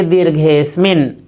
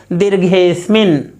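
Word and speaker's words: दीर्घेऽस्मिन्: तो इसका उच्चारण करेंगे दीर्घेस्मिन। कैसे बोलेंगे? दीर्घेश्मिन।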